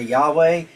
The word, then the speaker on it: Yahweh: And so in Hebrew also there is no J and the Y uh produces a J sound. So that's why some people say Jehovah, some people say Yahweh because we don't know